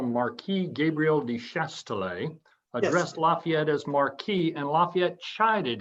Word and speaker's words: Lafayette: his his uh his noble name la one syllable fayette and put it together put those two parts together to make a commoner's name lafayette so he himself would